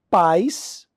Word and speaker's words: pais: se fosse um ditongo a palavra é acentuada pais uma sílaba país duas sílabas tá Teoricamente a regra